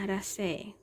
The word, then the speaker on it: Araceae: Ya, Araceae. Tulisannya seperti ini. Araceae, tapi dibacanya adalah Araceae.